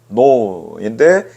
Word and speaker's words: know: KNOW의 발음을 하면은 no인데 K 발음이 묵음이 됐어요.